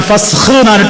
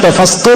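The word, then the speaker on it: ഫസ്ഖ്: ഉച്ചാരണങ്ങൾ ഒന്നും തെറ്റി പറയരുത് മുസ്ലിമീങ്ങൾ ശ്രദ്ധിക്കണം ഫസ് എന്നേ പറയാ ഫസ് ഹിന്റെ മീതെ പുള്ളിയ അതി മുതൽ ആര് കേട്ടാലും ഫസ്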